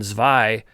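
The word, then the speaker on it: zwei: spell it in german and zvy is 2 z-w-e-i so check those out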